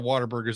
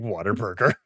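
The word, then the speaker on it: Whataburger: and Jared though have shared a lot of water Burgers like at 2 am when we have else stop saying Water Burger I won killing me that's what it's pronounced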